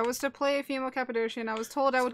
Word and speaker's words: Cappadocian: Coolimp, I was to play a female Cappadocian? Is that how you pronounce that?